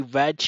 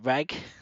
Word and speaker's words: Reg: um a boy um I want to say reg but I think you pronounce it reg like that seems to be what they do in the dub and he is different